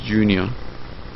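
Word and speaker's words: Junia: adonic adronicus and junor oh basically that's pronounced Junior so GRE an and andronicus and and and Junior which is spelled j u n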